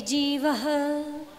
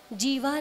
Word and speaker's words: जीवः: बध्यते मुच्यते जीवः सममो निर्ममः क्रमात्। बध्यते मुच्यते जीवः, जीवा नहीं है, जीवः शब्द, जीवः है ना, जो विसर्ग होती हैं उनका हकार के रूप में उच्चारण होता है, जीवः ऐसे, ठीक है ना।